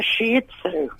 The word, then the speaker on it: Shih Tzu: I don't like the Shih Tzu. Oh, I'm glad that you said it like that. I You don't like it at all, my darling. I really thought hard about that pronunciation, yeah.